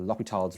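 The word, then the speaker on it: L'Hôpital: So in terms of limits, we have to use L'Hopital's rules, or L'Hopital's rules, as it's pronounced.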